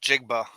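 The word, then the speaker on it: Njigba: the middle pronunciation what jackson smith jigba jigba yeah and it's silent there is three heisman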